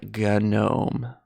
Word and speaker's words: GNOME: It's actually GNOME. So actually, as a joke, like I add the hard G to everything now.